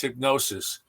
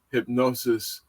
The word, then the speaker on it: Hipgnosis: uh franchise from from London England and that's hypnosis and hypnosis is spelled hip g-n-o-s-i-s and they began in London